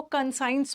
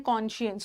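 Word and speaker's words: conscience: कॉन्शियस का मतलब होता है, काइंडली इसको कंसाइंस मत पढ़िएगा, इसका प्रोनाउंसिएशन है कॉन्शियस।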